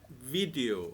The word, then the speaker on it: video: So right, so you have to put your teeth below Mm-hmm. over your lip and video, video.